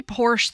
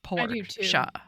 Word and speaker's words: Porsche: right is that Porsche I always say Porsche the car but everybody else says Porscha they porsch the car